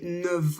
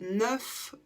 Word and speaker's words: neuf: un V donc on dira neu exemple j'ai 9 ans où on va le prononcer en V autre exemple j'arrive dans 9 mois et là on prononce un f 10